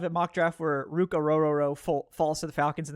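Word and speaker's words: Orhorhoro: I love Orororo's tape, and that is how you say his name. It's, it's kind of intimidating, I understand, but it's Orororo.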